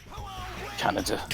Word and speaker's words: Kaneda: Oh, Kaneda. yeah. Canada. That's how they say it.